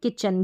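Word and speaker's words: kitchen: किचन है, किचन में टी सी एच च साउंड के लिए बीच में है।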